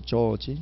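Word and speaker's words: George: 헨리 조지음 조지라 그죠 조지 조금 길게 발음해야 돼요 예 짧게 발음 이상해요 이상해 조지 하면 좋아해 예 그죠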